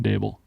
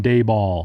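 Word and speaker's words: Daboll: one Brian dabel foreign a good time to remind the people that dable rhymes with table a lot of you people in the National media still don't have it congratulating Brian dayball yeah yeah you're right you're right miles table and and all Fable Nova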